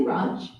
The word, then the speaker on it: Radch: Well, I say Radch, but I also say that Radch space is very large. There are a lot of different languages, dialects, accents, so how you say it is probably right somewhere.